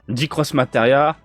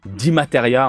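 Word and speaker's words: DXMateria: D-Cross Materia. Excusez-moi, ça se prononce D-Materia, en fait. Hein, je sais pas pourquoi je rajoute le cross. Parce qu'il y a un X au milieu. D-Materia.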